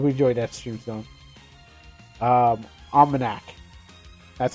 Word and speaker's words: OmanaC: OmanaC. That's how it's pronounced.